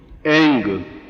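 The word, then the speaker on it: ऐं: एम नहीं बोल सकते, एंग।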